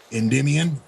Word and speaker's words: Endymion: Endymion.